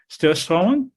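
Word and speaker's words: Surströmming: So the most disgusted one is called, and I'm bound to mispronounce this, Sturslång.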